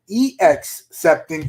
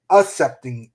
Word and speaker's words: accepting: caught up with that accepting not excepting it's accepting i don't know pronouncing the correct ways a c c e p t i n g except to accept does